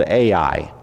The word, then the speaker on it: Ai: short it's two letters if you can say both letters then you have pronounced it right there's an A and there's an i and that's the whole name it's the city of